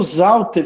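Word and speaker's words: Sauter: E o Zauter se escreve com S, mas se pronuncia com Z.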